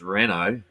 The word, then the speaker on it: Renault: Now, when Dan realizes he's ahead of Renoord, uh, Renault, I'd say Renoord spelled with an E, and that's not correct. It's Renault without the E.